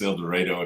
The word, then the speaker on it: El Dorado: El Dorado eloro however how do you pronounce it El Dorado if it's Kansas eloro if it's Arkansas okay all right but